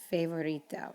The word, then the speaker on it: favorito: And then a very common one that I hear is favorito. It's not favorito, it's favorito because the letter A is A. Favorito, favorito.